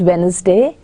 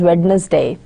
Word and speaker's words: Wednesday: need to understand that completely incorrect pronunciation such as regulars day where D is not kept silent would be incorrect inappropriate and cannot be